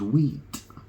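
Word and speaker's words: huit: Well, 8 in French is wheat. Yeah? H-U-I-T, isn't it, I think? But it sounds like the word wheat, you know?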